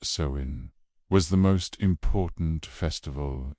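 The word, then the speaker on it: Samhain: Sain pronounced sewin was the most important festival in the Celtic calendar.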